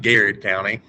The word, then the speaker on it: Garrett County: Benjamin Davis from, do you say Garrett County or Gerard? How do you say that? Now you got it right, Garrett County.